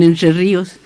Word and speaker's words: Entre Ríos: público que nací en Entre Ríos, así se pronuncia allá, en Entre Ríos, República Argentina.